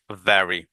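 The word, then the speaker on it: very: দেখুন আমি বাংলায় লিখে দিয়েছি, সবাই ভেরি বলে থাকি। সাধারণত আমরা ভেরি বলে থাকি, right? ভেরি good, ভেরি good, ভেরি good. আসলে এটা ভেরি নাইস, ভ্যারি।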